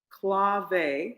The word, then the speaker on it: clave: And so one thing I learned when I first started learning drumming was clave. And to learn clave, you had 2 wooden cylinder sticks called clave sticks. Clave, C-L-A-V-E.